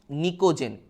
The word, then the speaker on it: pnicogen: Group 15টাকে আমরা বলি হচ্ছে নিকোজেন, PNICOGEN। এখানে পিটা সাইলেন্ট থাকে।